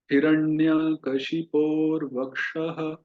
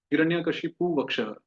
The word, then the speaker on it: हिरण्यकशिपोर्वक्षः: हिरण्यकशिपोर, कशी, अच्छा कशिपु, कुछ हम इसका उच्चारण करते हैं कशिपु, हिरण्यकशिपु वक्षः, नहीं ऐसा नहीं है। यहाँ है हिरण्यकशिपोर, र भी है रेफ भी है। हिरण्यकशिपोर वक्षः कहिए, हिरण्यकशिपोर वक्षः।